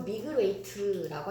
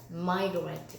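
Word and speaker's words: migrate: 자, 발음이 이걸 미그레웨이트라고 하시면 안 됩니다. 얘 발음 어떻게 하셔야 돼요? 마이그레이트. 이거 보자.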